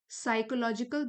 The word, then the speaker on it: psychological: and mitigates the साइकोलॉजिकल burden, P silent है यहाँ पर, ये वाला साइकोलॉजिकल बर्डन, मिटिगेट मतलब किसी